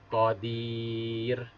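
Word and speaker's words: قدير: Karena kita bacaannya wakof atau berhenti, maka huruf ro berharkat ini dibaca sukun atau mati. Sehingga kita baca qadir.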